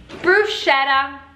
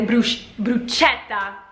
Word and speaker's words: bruschetta: Bruschetta. E questo davvero volevo spiegare perché in inglese la CH insieme si pronuncia CH, quindi sì, dovrebbe essere bruschetta, ma gli americani dicono bruschetta senza la doppia lettera.